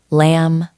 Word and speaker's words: lamb: For words like comb and lamb, it is a similar story to the K. The B used to be pronounced in Old English, but over centuries, the MB cluster at the end of a word became simplified. We just stopped saying the final explosive sound.